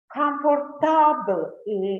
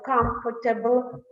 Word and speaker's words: comfortable: For example, they may say industry instead of industry, botany instead of botany, technology instead of technology, comfortable instead of comfortable, due to the stress